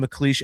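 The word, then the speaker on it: McLeish: And for any of our audio viewers, Kale McCleas is spelled C A E L, first name, last name Mleash, M C L E I S H, and the song is called Grow, parenthesis resiscord version.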